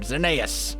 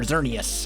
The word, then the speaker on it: Xerneas: We got our first legendary of the server, Xerneas, or Xerneas, however you want to pronounce it. I've heard it both ways.